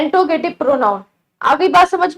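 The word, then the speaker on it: interrogative: कुछ लोग इसे इंट्रोगेटिव भी पढ़ते हैं, लेकिन इसकी सही प्रोनाउंसिएशन इंट्रोगेटिव होती है, ठीक है।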